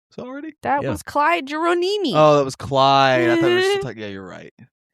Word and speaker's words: Geronimi: Number 2, Clyde Geronimi. Had to sound it out a little bit there. No, I think you pronounced it right the first time.